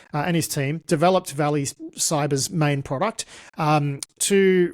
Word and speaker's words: Vali: Now we're going to be chatting with Austin Gadant who is the CTO and co-founder of Valley Cyber and that is spelled V A L I.